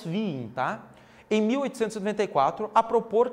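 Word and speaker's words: Wien: o físico alemão pessoal muito ser a pronúncia correta essa nós falamos vim tá em 1894 a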